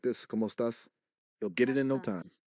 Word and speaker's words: estás: The estás is pronounced a little differently. It's more like ¿Cómo es, estás? like estás. Try saying cómo estás with me.